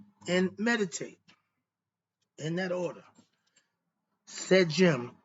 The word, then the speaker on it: Sedjm: Sejim, which is spelled Sedjm, Shedy.